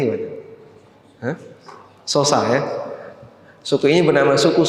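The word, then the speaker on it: Xhosa: nama suku x h o s a Gimana bacanya Ya sosa x h o s a bacanya gimana Ha sosa ya suku ini bernama suku sosa dan mereka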